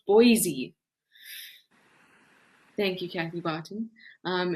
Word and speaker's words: Boise: you very much kathy barton says trishala it's pronounced boise thank you kathy barton um and next time